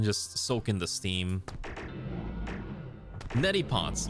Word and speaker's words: neti pot: Neti pots. What did I say? Nettle pots? Close enough. Nettle pot, neti pot, close enough. Well, there's like an extra syllable in there, but you know what I meant.